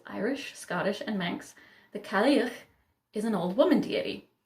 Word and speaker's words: Cailleach: Cailleach, I got it, which is Gaelic. And so you can see the spelling, it's nothing like it sounds.